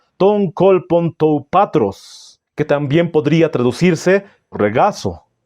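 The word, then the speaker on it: τὸν κόλπον τοῦ πατρός: Está en el seno del Padre, se pronuncia de la siguiente manera en griego, ton kolpon tou patros, que también podría traducirse regazo, uno de los dos, seno o regazo.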